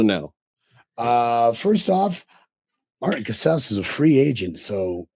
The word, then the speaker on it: Casaus: Cass and it is pronounced cas like house.